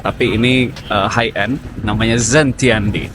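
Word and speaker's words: Xintiandi: Tapi ini high end namanya Zentiandi. Tulisannya X I Tiandi tapi bacanya katanya Z Tiandi.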